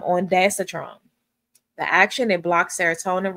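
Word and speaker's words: ondansetron: Um um the pronunciation of the generic is on daster. I'm sorry, on I said on daster. Sorry about that guys. Um on datetron, the action it blocks serotonin receptors in the brain.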